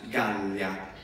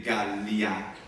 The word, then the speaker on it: Gallia: forse 20% del tempo una IA come Italia, diventa Italia, cioè come pronunciamo in spagnolo, in italiano, Italia, Gallia, invece di Gallia, o con tre sillabe o con due, l'uno l'altro è possibile nel latino, scusate.